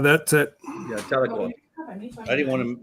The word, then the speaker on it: Tahlequah: Tahlequah, that's it. yeah, Tahlequah. I didn't want to mispronounce it because you can mispronounce it easily.